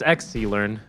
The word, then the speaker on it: Xlearn: I don't think it's Exa. I think it's XSI, right? It's Xlearn. Xlearn. Really? I believe. Yeah, that's how people have told me it's pronounced.